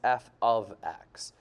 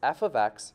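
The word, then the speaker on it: f(x): y we write f parentheses x which is pronounced f of x so we would pronounce this f of x equals 2x where f is the name of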